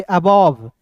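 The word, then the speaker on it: above: तो इसे पढ़ेंगे अबव।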